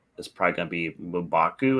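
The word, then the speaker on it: M'Baku: probably going to be mubaku is how you say his name umbaku yeah that is the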